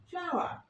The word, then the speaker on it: flower: Here, flower, American pronunciation and British pronunciation is flower. অর্থাৎ আমেরিকানরা পুরোপুরি উচ্চারণে বলছে ফ্লাওয়ার, বাট ব্রিটিশরা বলছে ফ্লাওয়ার। আরটাকে নিচ্ছে না, ওরা হালকা করে মুখের মধ্যে রেখে দিচ্ছে।